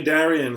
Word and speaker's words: Darian: so uh is the correct is the correct pronunciation darian is that correct yeah you got it okay darian so we're here this is for the channel